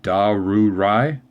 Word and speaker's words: Darrurai: do I release video I think that's how we pronounce his name da rude rye 3 syllables that sounds good alright